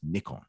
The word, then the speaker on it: Nikon: too they go hey it's not an icon dude it's nikon i'm like i'll still